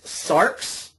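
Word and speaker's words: σάρξ: it means flesh and the way that you pronounce this word in Greek is SARS SARS is the nominative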